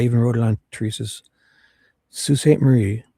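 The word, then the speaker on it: Sault Ste. Marie: Salt and it's for the I even wrote it on Teresa's Sue St. Marie.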